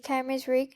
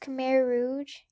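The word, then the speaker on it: Khmer Rouge: have died during the Kim's R my bad it's pronounced K Rouge um this movie was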